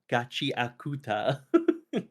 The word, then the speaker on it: Gachiakuta: Gachiakuta.